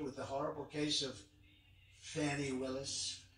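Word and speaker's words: Fani: the horrible case of Fanny Willis it's it's actually pronounced fonnie it's f n i but you pronounce it fny a little French accent there fny but that's a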